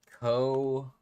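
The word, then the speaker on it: Cosanzeana: Cosanziana. That's how you spell it, right?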